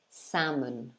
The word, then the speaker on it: salmon: e sound um so it's not actually a long sound sound it's a short sound so it's a like in for example cat alright so it's not the long one like r as in car for instance it's short ah so you'd say sa salmon salmon so open your mouth